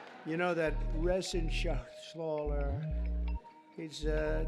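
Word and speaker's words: Reschenthaler: thank you and Guy Ren shaer you know that Ren Sher he's uh that's actually the way you pronounce it you know nobody else gets it right I got it right but it's a it's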